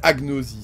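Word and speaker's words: agnosie: à ce décc répon on prononce G comme gu ouais donc c'est agnosi c'est bien ce qui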